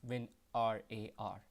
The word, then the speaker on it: WinRAR: to call but uh the correct pronunciation is when r a r so guys I will